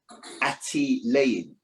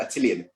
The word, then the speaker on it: Attilayin: Like I said, I'm still doing my education services company, and it's actually pronounced Attilayin. I know it's called Attilian. It's Attilayin Educational Services.